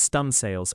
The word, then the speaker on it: studding sails: Most significantly, the studding sails, pronounced stun sails, are prepared.